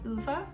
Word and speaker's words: Ove: so i just finished a man called uva which is how you pronounce this i have been pronouncing it wrong for about a month and a half now so we love that